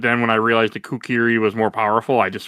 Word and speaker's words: kukri: If I was using Jacob, it was the kukri. I think that's how it's pronounced. Kukri. Yes.